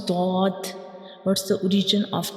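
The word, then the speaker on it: ضاد: And how we pronounce dod, what's the origin of dod? When we pronounce dod, the front part of your tongue will touch the gums of upper front teeth.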